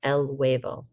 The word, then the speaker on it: huevo: would be l huevo notice the h is silent but there are a lot of vowels el huevo okay los huevos you